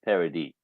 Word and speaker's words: Paradis: Oh, it is actually pronounced Paradis. Paradis. Ooh, Yeah. like a French almost. But I am Paradis. So in French, anything after the last vowel is silent.